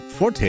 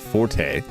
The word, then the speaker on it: forte: on the zombie no that's not it Just Forte is pronounced Fort not Forte is it really I'll be honest one of